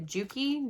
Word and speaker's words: Juki: She uses, I think, a Juki, J-U-K-I is how you pronounce it.